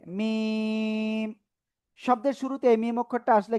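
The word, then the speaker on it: ميم: তো দেখেন এই যে মিম অক্ষরটা, মিম অক্ষরটা পূর্ণরূপে আসবে এরকম, 4 আলিফ টেনে উচ্চারণ করতে হবে মিম।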